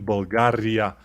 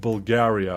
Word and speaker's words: Bulgaria: Bulgaria, and our R is very harsh. I mean, Bulgaria. Not Bulgaria or Bulgaria or something, but it doesn't matter.